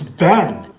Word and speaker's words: been: which means this word is Bean no it's Ben like where have you been like it's because it's